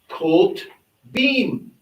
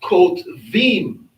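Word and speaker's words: כתובים: Now, more in rabbinic Hebrew, because they use the V sound, which came along after the second, close to the 3rd century, it will be pronounced Kot Vim. But the more ancient Hebrew would still maintain the B sound of the bait. It will be Kot Beam.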